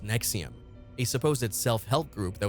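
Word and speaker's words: NXIVM: was The Mastermind behind NX IVM pronounced Nexium a supposed self-help group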